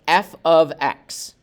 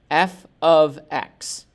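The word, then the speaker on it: f(x): so this is pronounced f of x f of x it's not f times x it's not like these things are being multiplied but it's f of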